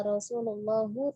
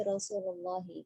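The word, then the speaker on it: رسول الله: Jadi bukan qala Rasulullahu tapi Rasulullahi, karena di situ adalah mudhof ilaih ya. Jadi bukannya dhammah tapi kasroh.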